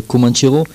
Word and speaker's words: Comanchero: son titre qui s'appelle Comanchero, prononce-le à la française.